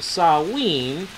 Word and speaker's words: Samhain: On Samhain, and in parentheses it says over here, pronounced Sawin, S-S-O-W-W-E-N, by Wiccans, it says over here, October